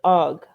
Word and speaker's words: AWGE: But it's AWGE and A wage. well, Oh wait. A wage. Yeah. when I looked it A up, wage. it stand they pronounce it OG, but he Oh, was I asked saw about it.